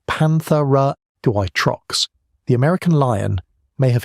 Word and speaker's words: Panthera atrox: Panthera atrox, pronounced Panthera atrox, the American lion, may have hit 800 pounds, heavier than any lion alive today.